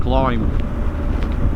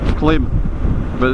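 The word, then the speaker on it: Klim: I splashed out and bought a climb clim as we might say in this country k l i m clim but the it's American and they like to call it or pronounce it climb so who am I to argue um but it's bloody good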